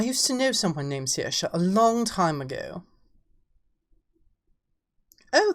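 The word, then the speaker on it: Saoirse: to know someone named siha a long time ago oh thank you darling yes because it's Irish dear it's Irish that's why it's pronounced completely differently from how it's spelled you know like shobon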